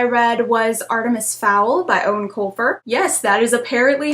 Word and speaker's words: Eoin Colfer: And the last thing I read was Artemis Fowl by Eoin Colfer. Yes, that is apparently how you pronounce that name.